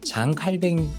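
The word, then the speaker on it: Jean Calvin: 어이 교리문답 1번에서는 어 존 칼빈 장칼뱅 존 칼빈 똑같은 사람입니다만 장뱅이 프랑스식 발음을 그대로 옮긴 걸 거고요. 존 칼빈은 영어로 이렇게 옮긴 이름입니다.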